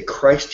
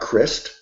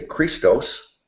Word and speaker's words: Christ: I emphasize Christ in the word I say Christ's unity I say I'm a Christian because his name is not Crist unless you're him talking Greek and say Christos but in English we pronounce his name is